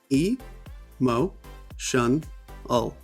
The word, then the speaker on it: emotional: You can look here, e-mo-tion-al. 4 syllables, emotional.